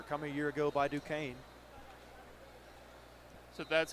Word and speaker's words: Duquesne: Had his first offer coming a year ago by Duquesne. So, that's how you pronounce it.